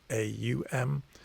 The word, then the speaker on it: Om: Sometimes spelled O-M, sometimes spelled A-U-M. The reason being that the pronunciation is slightly rounder than just O-M. It's not quite Aum, but it's not quite Om either. It's somewhere in between those two.